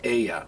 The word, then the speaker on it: ella: Enchanted, but it's pronounced ella. Remember, you don't say como te llamas, you say como te llamas. In Spanish, always, when there's a double L, it's pronounced Y, like me llamo, ella, como te llamas.